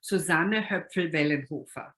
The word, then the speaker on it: Susanne Hoepfl-Wellenhofer: about it so in german it would be susanna her friend hoofer but um in the united states and susannah